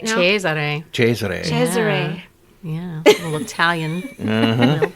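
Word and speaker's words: Giulio Cesare: say it right now cheser cheser cheser yeah little Italian to it you want to be like Cesar and they're like no ches CH it's fun it is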